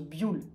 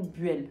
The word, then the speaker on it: Buell: buell avant toute chose la marque se prononcent buell et non duel pour la prononciation on peut faire l'analogie avec le fuel qu'on prononce fuel et non fût elle de plus la marque